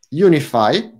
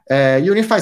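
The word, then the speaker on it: UniFFI: And also Mozilla created Unify. I hope the pronunciation is correct. Unify with double F. It's like from Unify. That's the reason. Like it's like unifying Rust for with the other platform.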